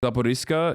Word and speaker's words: Zaporizhzhia: is controlled, and the Ukrainian forces ran into Zaporizhzhia, is how you say it.